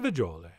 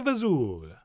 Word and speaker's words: fagioli: And yes, for the record, we are pronouncing it and spelling it wrong. It's really, of course, pasta fagioli. But why would you say that when you could say pasta fazool?